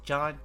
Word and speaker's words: Jean: I always thought his name was Jean, but apparently it's John.